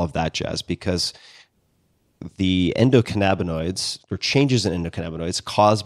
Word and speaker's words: endocannabinoids: and maybe you can tell me how to pronounce this Endo cannabinoids am I saying that correctly cannabinoids how do